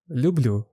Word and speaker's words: люблю: Я люблю. Ти любиш. Ви любите. Ми любимо. There is a historically developed extra sound «л» in люблю, which makes the pronunciation of the word smoother.